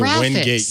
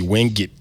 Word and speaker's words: Wingate: How do you pronounce giraffe? Giraffe? Well, okay. I went to Wingate University, but apparently it's supposed to be Wingate University.